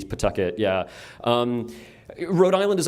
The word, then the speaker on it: Pawtucket: We we pronounce it Pucket. It's like a P apostrophe. Pucket.